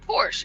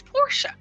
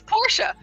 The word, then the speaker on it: Porsche: that Porsche is not Porsche it's Porsche it's Porsche that's right it's porsa your name exactly yep that's my name and that's exactly how they pronounce it in Germany and so that's correct